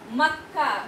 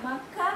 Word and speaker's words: मक्का: मक्का, मक्का में का जो है वो आधा का जो है उसका उच्चारण हम हल्के में कर रहे हैं और पूरा बल हम पूरे का में दे रहे हैं।